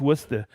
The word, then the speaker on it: Worcester: all see that that's how you say it's Worcester okay Des Moines Iowa Bloomington Illinois hey guess